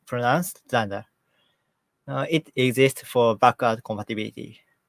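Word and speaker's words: dunder: Modules and methods is double underscores to either pronounced Danda.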